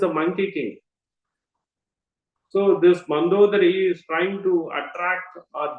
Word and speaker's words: Mandodari: in the crystal pillar, it is not Manda Udari. Her name is Mandodari. We have to pronounce it correctly. Manda Udari. That is her correct way of pronunciation.